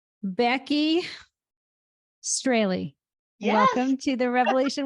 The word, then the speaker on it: Strahle: Becky Strahle. Yes. Welcome to the Revelation Wellness Podcast. I said it right, huh? You did. You did. I know they actually have notes here. Pronounced like daily. Yep. Strahle.